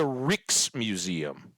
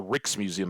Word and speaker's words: Rijksmuseum: How do you say the double IJ phonetically? I guess I could look. Let's look. Yeah, that's totally it. The Reeks Museum. Pronounced like Reeks.